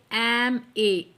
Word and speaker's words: MA: अब एम तो कॉन्सोनेंट है, हाँ जी बिल्कुल कॉन्सोनेंट है, बट प्रोनाउंस कीजिए एम ए। अ की साउंड आ रही है, वोवल की साउंड आ रही है, तो आप एन का यूज़ करें।